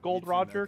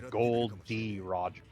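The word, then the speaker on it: Gol D. Roger: he knows of like being called gold Roger cuz that's the mispronouncing his name his name is gold d Roger now I even he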